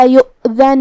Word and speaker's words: يؤذن: هذا يوم لا ينطقون ولا يؤذن لهم فيعتذرون. کلمت یؤذن میں یہاں حمزہ ہے واو پہ، تو ہم حمزہ کو ظاہر کریں گے.